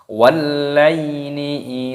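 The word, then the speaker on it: وَاللَّيْلِ: Wallaini idza saja, wallaini idza saja, wallaini idza saja. Di sini perhatikan ada alif lam samsiyah, lamnya berharokat tasydid, ini dimasukkan, diidghamkan, dibaca walla.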